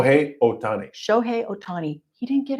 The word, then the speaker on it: Shohei Ohtani: And I, as I was telling JR last week, I couldn't believe, was it how do you pronounce his name? Shohei Ohtani.